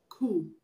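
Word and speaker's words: coup: Cool. C-O-U-P, cool. The P in cool is also silent, is not pronounced.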